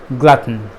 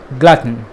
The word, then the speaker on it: glutton: strong ton sound in the end it's simply glutton glutton so someone who eats out of breed someone